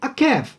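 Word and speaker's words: עקב: O restante da palavra que nós temos aí é pronunciada como akev.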